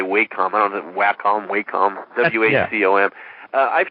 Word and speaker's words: Wacom: Brown use it I don't know how to pronounce it but I always say wait compounds and Wacom Wacom Thank You AFE om I've tried that and